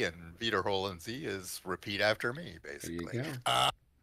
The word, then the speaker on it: Wiederholen Sie: I mean, which was basically EI is pronounced as I and IE is pronounced as E and Wiederholen Sie is repeat after me, basically.